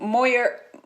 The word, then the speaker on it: Moyer: It's Moyer. It is a French name, but it's become anglicized, and so I pronounce it Moyer.